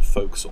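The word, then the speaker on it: forecastle: the quarter deck and for folks. It's for castle or folks. It's actually the way you pronounce it.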